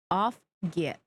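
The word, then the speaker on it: Auf geht's: Off get. The off is pronounced like off, and the get is pronounced like gat. Off yet.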